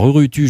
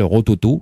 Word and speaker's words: Rurutu: Alors Rurutu, je sais déjà que ça se prononce en fait Rurutu, hein, parce que il m'a dit ça parce que c'est polynésien.